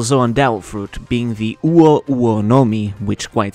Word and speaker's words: Uo: The name Uo might sound like it breaks the two-syllable rule for every devil fruit name, but you have to keep in mind that individual vowels are considered single syllables in Japanese, so the name still